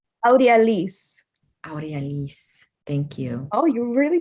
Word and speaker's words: Audi Elise: but thank you can you say your name audi elise thank you oh you really pronounce that well thank you